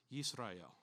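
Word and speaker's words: ישראל: In Hebrew, it's pronounced Yisrael.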